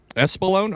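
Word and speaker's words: Espolón: not not explain that how do you uh pronounce that tequila espalone espalone okay I've always wondered that's like my favorite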